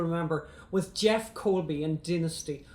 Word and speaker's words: Dynasty: John James, you'll remember, was Jeff Colby in Dynasty, or as you Americans say, Dynasty, yes.